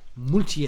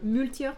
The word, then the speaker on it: Maultier: Maultier.